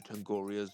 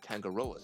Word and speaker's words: Tangaroa: What if he used Mr. Tangoria's camera? Mr. Sorry, Tangaroa's camera to photograph the book.